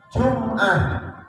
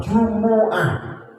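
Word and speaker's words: جمعة: im ah yauskanu mimnya lafaz Jumat itu bisa dibaca tiga bisa jumah mimnya mati bisa mimnya dah Jumuah Jumuah mimnya bisa dengan mim itu dibaca fathah jumaah Jadi kalau ada orang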